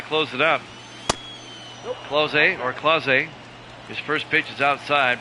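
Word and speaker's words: Clase: it is okay the PA announcer called it claz pronounced it CLA I was listening to him in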